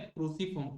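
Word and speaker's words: cruciform: इसको actual pronunciation क्या है, क्रूसीफॉर्म कोर।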